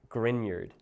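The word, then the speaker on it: Grignard: No, it's spelled grigner nerd but it's pronounced grineyard.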